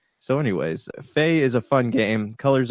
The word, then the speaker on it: Fe: My number 6 is Faye, and I absolutely hate how people always want to correct me when I talk about this game. They go, it's pronounced Fee.